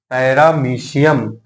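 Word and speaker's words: Paramecium: पे पैरा मो एशियम पैरामीशियम इसको क्या रीड करते हैं पैरामीशियम लेकिन स्पेलिंग क्या है इसकी पैरा मो एशियम ठीक है तो नेक्स्ट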